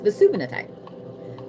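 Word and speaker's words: Vesuvianite: That is Vesuvinatite. I always say it wrong because I want to say Vesuvius. It's Vesuvinatite. So this right here is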